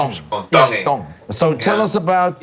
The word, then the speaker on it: Tongi: Tongi. You pronounce the T's like a D in the Tongan culture. Tongi.